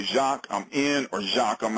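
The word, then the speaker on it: Jacque: okay all right the first name is jacqu and it's spelled the French way so that's going to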